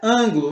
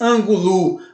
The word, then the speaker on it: ângulo: Então ela é ângulo. Você não diz ângulo, você diz ângulo. Ângulo. Esse an é a sílaba mais forte e então ela está na antepenúltima sílaba, então ela é uma proparoxítona.